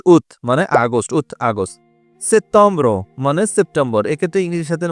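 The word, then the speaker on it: septembre: মানে August উথ August সেতম্র মানে সেপ্টেম্বর এক্ষেত্রে ইংরেজি সাথে মনে হচ্ছে হ্যাঁ বানানটা কাছাকাছি হুবু না হলে অনেকটাই কাছাকাছি বাট উচ্চারণটা টোটালি ডিফারেন্ট তেতম্র সেতম মানে সেপ্টেম্বর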